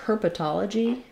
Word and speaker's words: herpetology: um and so for herpetology um uh it would follow a pattern that we have for words with ology like psychology cosmetology herpetology are stressed on the um not